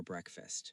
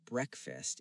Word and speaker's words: breakfast: I take a shower before breakfast. Very good. Pronunciation is important too. Yes. The word breakfast is often pronounced like breakfast. Not break fast.